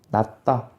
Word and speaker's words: 낮다: 자, 그 다음에 낮다 같은 경우에는 어떻게 될까? 나 밑에 디귿이 오고요. 이 디귿 때문에 뒤에 있는 디귿이 쌍디귿으로 소리가 납니다. 낮다.